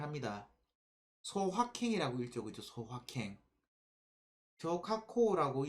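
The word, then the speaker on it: 小確幸: 쇼카코라고 얘기하는 일본어로는 그렇게 읽습니다.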